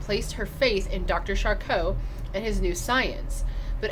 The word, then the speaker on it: Charcot: Charcot? I guess there's a T at the end, but with French you don't usually pronounce that. So Dr. Charcot, maybe?